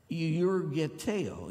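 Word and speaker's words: εὐεργετέω: And through him, he went about doing good," which is the word yurgeteo, accent on the O.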